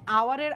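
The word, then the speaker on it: hour: আওয়ার যখন আমি বলি দ্যাট টাইম এটার যে উচ্চারণ এটার উচ্চারণটা কিন্তু এইচ দিয়ে শুরু হয় না এইচটা উচ্চ থাকে উচ্চারণটা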